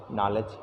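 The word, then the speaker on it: knowledge: नॉलेज। नॉलेज में तो के साइलेंट है।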